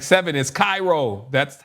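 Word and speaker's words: Chi-Rho: Okay, so this is how it's pronounced. Like I got to go back over all my recordings pronouncing this chiro. Y'all was with me and like seven is Cairo.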